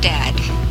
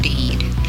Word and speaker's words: dead: And dead, it's said like bed, not bead. For goodness sake, don't call it deed.